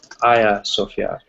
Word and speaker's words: Hagia Sophia: It looks like Hagia Sophia, but it's pronounced Hagia Sophia, right?